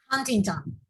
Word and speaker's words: Huntington: ¿Cómo se pronuncia Damaris? Huntington.